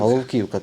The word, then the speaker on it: Головківка: Головківка, правильно, чи Головківка? Головків. Головківка. Ах, з цими наголосами страшне, можна А запитати?